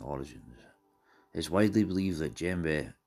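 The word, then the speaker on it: djembe: of african drumming origins is widely believed that gembe pronounced gem bear has its origins with the new a social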